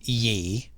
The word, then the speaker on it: Ye: back to the name ye is pronounced Yi yes y-a is yah